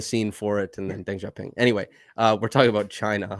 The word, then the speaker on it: Deng Xiaoping: How is it pronounced? Deng Xiaoping.